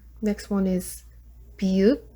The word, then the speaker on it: 비읍: Next one is 비읍, it makes sound like B, but not V.